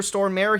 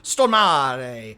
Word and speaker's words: Stormare: man himself explaining how he says I don't think he Minds uh being called Peter storm mayor he just said like that's what North American people do they put like an emphasis on both syllables but you kind of have to from what I was able to gather you kind of have to throw the second part away so it's Peter stare which I kind of